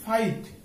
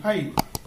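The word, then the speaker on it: fight: যেমন এখানে আমরা দেখি ফাইট, এফ আই জি এইচ টি ফাইট, এখানে জি এবং এইচ টা হচ্ছে কি সাইলেন্ট, এটা উচ্চারণ হবে না, উচ্চারণ হবে এফ আই টি ফাইট, অর্থ হচ্ছে যুদ্ধ করা।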